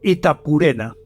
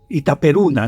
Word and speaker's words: Itaperuna: Allí, en Nueva Gales del Sur, en Itapurena, que es una población de Itaperuna, no Itapurena, sino Itaperuna, una población de Brasil.